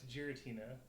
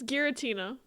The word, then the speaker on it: Giratina: It's Gerina. No, it's not. It's Gueritina.